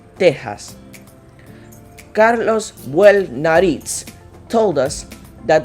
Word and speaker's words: Texas: This is pronounced like an H in English. Mexicali would be Mexicali, Mexico would be Mexico, and Texas, Texas.